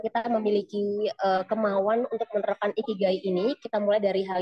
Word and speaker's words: ikigai: Kalau nggak salah, cara bacanya itu bukan ikigai, tapi ikigai. Jadi kayak dia konsonan-konsonan apa maksudnya di bahasa Jepang itu biasanya dua-dua gitu terus dan satu huruf vokal.